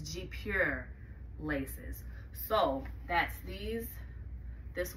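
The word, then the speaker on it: guipure: might see that and call it gooey peer G up here with her but that actually correct pronunciation I think is G pure laces so that's these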